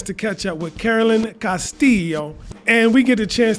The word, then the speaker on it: Castillo: right did i say your name right castillo castillo okay i gotta work on my my uh you know pronunciation advice me espanol so uh man first